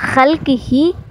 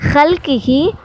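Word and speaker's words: خلقه: அந்த திக்ரு தான் சுபஹானல்லாஹி வ பிஹம்திஹி அதத ஹல்கிஹி. ஹேக்கு மேலே புள்ளி இருக்குது. ஹல்கிஹி வ ரிலா நஃப்ஸிஹி.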